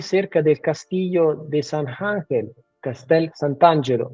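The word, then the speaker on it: Castel Sant'Angelo: del castillo de sanangel Castel santangelo en italiano se dice exactamente eh c Sant ángelo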